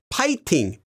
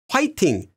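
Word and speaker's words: 파이팅: you can do it note that although the official spelling and pronunciation is Ping you will also commonly find it written and pronounced as pting especially from the older Generation by itself it's a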